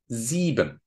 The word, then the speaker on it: sieben: The combination of I-E, is normally pronounced as a long E, just like in vier and sieben.